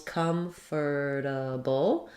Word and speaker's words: comfortable: word um so one if I'm saying all of the syllables comfortable if I do it that way it sounds like um it has first syllable stress and a stress chah and then it'll sound like come this letter o r Comer it'll sound like the the r sound not an or sound um then I'll have